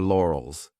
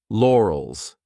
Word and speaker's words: laurels: This could be a hard word to pronounce depending on your native language because we have an R and an L lore, OLS lore, OLS. So divide the sounds and tell you're comfortable with each sound lore, OLS, and then you can pronounce it as one.